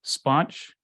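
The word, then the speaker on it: SPONCH: us have taken to calling it um Sponge s-p-o-n-c-h which I kind of like right it's almost a little easier to pronounce than Schnapps and also sounds really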